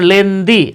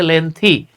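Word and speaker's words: lengthy: থাকে যেমন হেলথি আমরা বলি হেলদি হেলদি না উচ্চারণ হেলথি তারপরে লেনদি আমরা বলি লেনদি আসলে লেন্দি না এটা হচ্ছে লেন্থি ওকে আমরা বলি ওয়েলদি ওয়েলদি না এটা হচ্ছে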